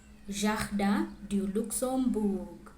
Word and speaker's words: Jardin du Luxembourg: La Tour Eiffel, le musée du Louvre, la Seine, la cathédrale Notre-Dame, Jardin du Luxembourg, Arc de Triomphe, Montmartre et Sacré-Cœur, Centre Pompidou.